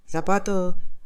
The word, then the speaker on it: zapato: Аргентина сапату. Мексикато. В Испании с и перед э и произносится как з, как будто у тебя зубной свист, либо ты не научился произносить чёткую звонкую с.